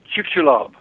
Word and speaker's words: Chicxulub: I know you know how to pronounce Maya. You did it, Chicxulub.